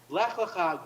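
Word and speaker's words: לך לך: is the idea that the second lech, or is actually lecha, and this is how we really translate it, or really how we really pronounce it. Lech lecha, go for yourself.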